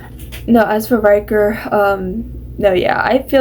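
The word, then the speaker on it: Ryker: Okay, so first I thought I said his name wrong. I was like, is it Viker? I think it's Viker. Wait. It's Riker. I keep saying Viker. Okay, it's Riker. I don't know what I'm saying. It's Riker.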